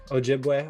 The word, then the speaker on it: Ojibwe: ethnic background is the ojibwe tribe if i'm pronouncing that correctly ojibwe pretty close ojibwe okay so i was wondering